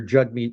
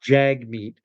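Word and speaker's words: Jagmeet: But I would pronounce his name Jugmeat, not Jagmeat. His name is written Jag. J A G M T. But even on his own Twitter profile, it said Jagmeat uh pronounced Jugmeat. Jug rhymes with hug.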